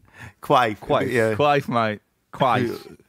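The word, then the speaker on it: Quaife: How do you pronounce the bass player's name in the Kinks? Oh, Peter Quaif? Quaif. Quick. Yeah. It sounds like an... Quaif. Like Quaif. Quaif. Yeah. Quaif, mate. Quaif. Peter Quaif.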